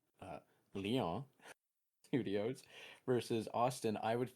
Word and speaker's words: Lyon: curious about how to properly pronounce Leon is not as lion thank you thank you